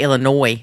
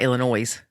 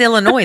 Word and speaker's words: Illinois: Well, I had to work really hard to say Illinois, not Illinois. Oh, Lord. It happens to everybody. It's Illinois, though, isn't it? Illinois. Yeah, the S is silent. Like the L in salmon.